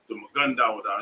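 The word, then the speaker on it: Magen David: That's the Magun Dawadah. It's the shield of David. The Magun Dawadah is how you say it in Hebrew.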